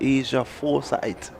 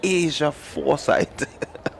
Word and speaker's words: Asia Foresight: Leslie I want to correct you there because I got that correction. Asia foresight. I mispronounced I pronounced it just how you did and I mean at one time the parent was at me. It's Asia foresight.